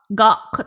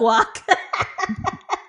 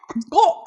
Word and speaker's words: gowk: So the word is spelled Gowk. Probably fucked it up. But Gawk. Thank you. Not guac. Gawk sounds like clock.